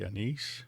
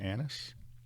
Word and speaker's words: anise: Ginger and star anise, and you got to watch how you say that. The British say anise, we say star anise.